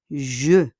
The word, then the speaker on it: je: On prononce comme joue. Hindi sa J, hein? Je, le E, je. La personne qui parle, joue is I, ako, I. Okay, the person speaking. The person qui parle. Sino nagsasalita? Ang taong nagsasalita ay ako. So, we pronounce that je, je.